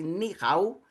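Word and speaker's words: 你好: Pronuncia-se ni hao.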